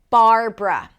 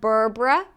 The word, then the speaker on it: Barbara: This name has two syllables. The first syllable is bar. Bar. Start with a B sound. Close your lips. Bar. And then make sure that you don't lift the tongue up too soon. Again, not burbbrra, but bar.